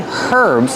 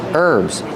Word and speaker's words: herbs: Remember, with herbs, the H is silent. Don't say herbs, it's herbs.